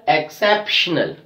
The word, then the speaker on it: exceptional: Other example we have, exceptional. Exceptional. Exceptional. So we are stressing on CEP. The CEP is actually the third from the last syllable.